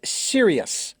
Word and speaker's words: Sirius: It's 38, and it's Sirius. I believe that's how it's pronounced.